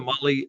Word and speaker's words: Mahle: And for the podcast listeners, Motley is spelled Mahle. Motley is probably how it's pronounced in other parts of the world, but not here.